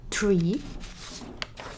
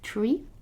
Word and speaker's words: tre: so instead of saying tree as you would say in english you say it's like tree but you pronounce the e as elephant sorry very good now